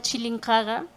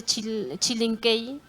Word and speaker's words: Chilincaga: canto de los sapos, pero el gringo que llega de afuera no puede pronunciar, entonces simplemente dice Chilinquey, y ahora lastimosamente se está quedando con ese nombre.